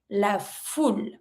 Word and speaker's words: la foule: If you want to say the crowd, la foule. Don't pronounce the E.